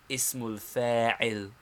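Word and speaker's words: اسم الفاعل: first the noun of agent or active participle pronounced the noun of agent or active participle ismulfair second the noun of object or passive participle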